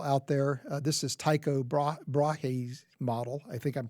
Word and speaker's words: Brahe: This is Tycho Brahe's model. I think I'm pronouncing that correctly, Brahe.